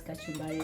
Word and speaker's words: kachumbari: final product what do you call this again kachumbari kachumbari yes kachari good job I'm pronouncing it yes that's kachumbari so the only part that's left is squeezing